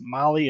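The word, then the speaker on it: Mahle: jump in here um I think we got molly Motorsports section next yep all right attention high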